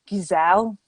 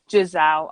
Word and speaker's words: Giselle: saying this right so i'm saying gizelle but how is everyone else pronounced i say gizelle giselle i think you're probably right i don't think i was right but we'll go with giselle okay so a young